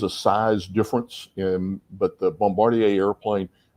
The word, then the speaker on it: Bombardier: Is that how you pronounce that? Okay, Bombardier, yeah.